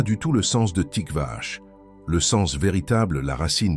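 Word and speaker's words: Tiqvah: Cette parole est tikvash. Écoute bien la sonorité.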